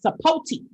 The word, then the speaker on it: Sapote: No, I saw that it's long O and long E.